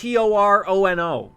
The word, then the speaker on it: Toronto: We don't really say Toronto. That's like a little bit much, but Toronto. That's it's almost like it's Torono.